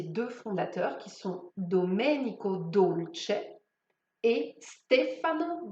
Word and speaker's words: Dolce: Ensuite, le E de Dolce se prononce à l'italienne et pas à l'anglaise avec un I en finale.